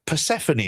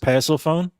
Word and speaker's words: Persephone: If you had Perseceny in there, I'd get cuz she's under that dual contract. If you had Uh actually JP, you pronounce it Persephone.